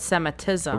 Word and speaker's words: Semitism: Like cemetery, but Semitism.